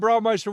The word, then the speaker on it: Braumeister: He is the owner and Braumeister, which is the master brewer here at Buffalo Creek Brewing.